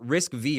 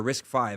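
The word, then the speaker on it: RISC-V: I think it's a it's a phenomenal corporate structure and then with again that risk V or risk five however you want to pronounce it.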